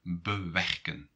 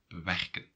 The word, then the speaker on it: bewerken: For example, bewerken, bewerken. So you're going to put stress on the second part, not on this prefix.